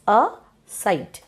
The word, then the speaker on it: aside: In aside, A is pronounced, but E is not pronounced, I is pronounced, okay? So, we can say that it has two syllables, aside.